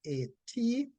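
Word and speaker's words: אַט: And the word from which leisure comes, the root word, is transliterated to A-T, and it is pronounced at, right?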